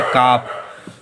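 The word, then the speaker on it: calf: यल silent हो तो इसे पढ़ेंगे काफ।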